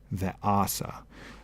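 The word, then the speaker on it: וְעָשָׂה: So this word's accent got shifted 1 syllable prior, ve'asa.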